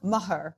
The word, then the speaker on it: Meagher: We have Tom Meagher, as you would pronounce it in Ireland.